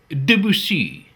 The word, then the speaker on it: Debussy: greatest composers ever is Claude Debussy, or, as my wife prefers to pronounce it, Debussy. She says that is the way the French pronounce it.